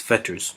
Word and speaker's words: fetters: tune with what it's fetters means exactly but definitely rhymes with feathers as wings wings are